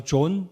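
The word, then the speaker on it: John: 영어 이름으로 존이라고 하죠 존 또 어떤 영국식 발음으로는 아 발음을 해서 잔이라고도 하는데요이 요한의 헬라어 발음으로는 이요한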